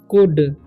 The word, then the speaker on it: could: Hearted and कुड, COULD, कुड क्यों पढ़े? यहाँ पर एल है तो कुल्ड पढ़ना चाहिए, लेकिन नहीं, यहाँ पर जब भी किसी वर्ड के लास्ट में LD आए तो एल साइलेंट हो जाता है, तो हम पढ़ेंगे कुड, ठीक है।